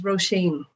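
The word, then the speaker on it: Róisín: bikram and good afternoon ladies the way you pronounce this is roshane oh shane okay that's interesting and it's it's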